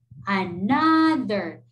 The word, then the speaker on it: another: Words O is pronounced as A. Has discovered them in the book. For example, another. There are letter O, but it sounds as A, like another. Come.